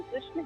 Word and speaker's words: कृष्ण: देखो जैसे हम इंग्लिश में लिखते हैं KRSHNA, तो कृष्णा बोलते हैं ना, not is na, it is rana, कृष्ण।